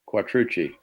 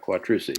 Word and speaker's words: Quattrucci: There's a pizza place called Bertucci's, and it's the same spelling, CCI.